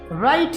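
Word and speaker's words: write: Sound किसकी आ रही है इसमें, राइट की आ रही है, W की नहीं आ रही है। तो W को यहाँ पे क्या बोलेंगे कि ये एक साइलेंट लेटर है।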